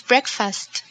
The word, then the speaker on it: breakfast: course the word is breakfast breakfast correct breakfast breakfast notice the pronunciation no digo break fast pero breakfast spring break spring break